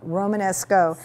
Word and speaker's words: Romanesco: Romanesco.